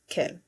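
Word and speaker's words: quel: that are written here, they're pronounced as Kel. So this is Kel Kel Kel Kel. They're all pronounced the same way, but they're written differently.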